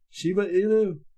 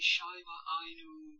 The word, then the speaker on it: Shiba Inu: Shiba Inu? How do you even pronounce it?